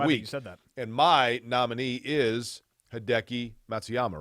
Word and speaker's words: Hideki Matsuyama: winner of the week and my nominee is hideki matsuyama right did i say that right yeah you